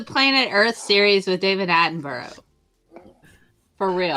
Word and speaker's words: Attenborough: Yeah, get back to me when you can pronounce Attenborough correctly. Scientism. No. Attenborough!